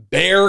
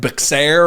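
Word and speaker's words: Bexar: like Prescott Arizona uh there's a bear county that looks like beair or bahare and it's just Bear County Texas um but where I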